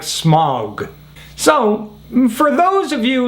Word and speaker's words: Smaug: people just forgo the whole ah u thing and say smog because the truth is we haven't used the diphthong since 400 500 years ago like back in the time of shakespeare now we pronounce the a you as we do in the words august or auto there is no diphthong it's just a straight ah sound now we still have